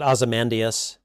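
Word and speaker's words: Ozymandias: I pronounce it Azamandius.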